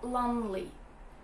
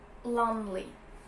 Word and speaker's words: lonely: attention to the pronunciation you don't pronounce e it's lonely lonely and the word alone